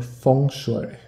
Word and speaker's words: feng shui: um mr any more good feng shui or feng shui pronounced a little bit more properly maybe if i shift